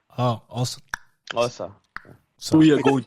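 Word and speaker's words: Xhosa: That's how it's actually pronounced, by the way. Losa? Osa, with the tongue click. Oh, Osa.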